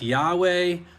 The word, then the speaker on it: Yahweh: And if you're going to put vowels in it, even though Hebrew has no vowels, they still pronounced vowels. We are using educated guesswork to figure out what those sounds are. The scholars do. Yahweh is probably as close as we get.